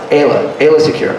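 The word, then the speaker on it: Aayla Secura: But talking about this now, and again, you pronounce Ayla Secure.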